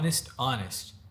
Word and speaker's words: honest: فقولها معايا to be honest فما هو honest زي كأنه الاتش ما تنطق.